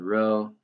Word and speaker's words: Rho: a Greek symbol and it's called Rho I'm not sure if like it's the Greek symbol is actually spelled like that but that's how you say is Rho um okay so we